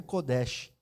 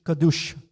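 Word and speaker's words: קדוש: assim codes né mas não é kodes né Como se pronuncia kad kadus kadus né até brinquei com ela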